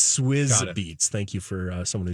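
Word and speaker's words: Swizz Beatz: first name was cuz that's actually how you pronounce it swis be it's swis beats thank you for someone who just text me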